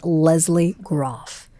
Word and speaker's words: Lesley Groff: Her name is Leslie Groff. It's spelled Lesley Groff.